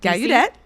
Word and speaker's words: Gallaudet: I don't know that I know how to pronounce it. Oh, try. Is it Gallaudet? Yes. And DC? Gallaudet.